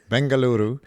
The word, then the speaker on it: Bengaluru: sad to hear now do the people of Bengaluru do I pronounce that correctly Bengaluru bangaluru much better thanks do the people of your